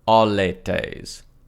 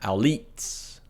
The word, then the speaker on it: Auletes: To hopefully save myself some audio pain in the future, his name is pronounced Ptolemy Auletes, not Auletes.